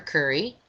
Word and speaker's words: Kuri: Curry, which you can do. Just do a Google search for Dr. Pedro Curry, Pedro, and his last name is spelled Kuri.